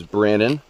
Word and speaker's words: Brandon: Hey Ramdino, my name is Brandon. Rhymes with Shannon.